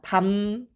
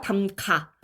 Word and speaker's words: 담가: 그런데 사람들이 뭐를 착각해요? 잠가가 아니라 문을 잠궈. 담가가 아니라 담궈. 뭐, 요런 식으로 발음하는 경우가 많거든요.